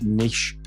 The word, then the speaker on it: niche: at niche pursuits uh nish you know everybody pronounces that different let's just go with i'm trying to be fancy right now you all know that i'm not fancy it's niche pursuits all right i'm from maine that's how i pronounce it uh our friends over